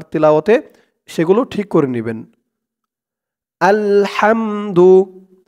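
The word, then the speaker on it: الحمد: সেগুলো ঠিক করে নিবেন আলহামদু আল হাম হাম বলা যাবে না বলতে হবে হাম গলার ভেতর থেকে আওয়াজটা চিকুন হয়ে বের হবে হাম আলহাম দু আলহামদু আলহামদু লিল্লাহি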